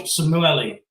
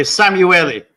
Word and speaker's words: Samueli: And his name is George Simuelli. I hope I pronounced that right. George, not really. Samueli. Samueli.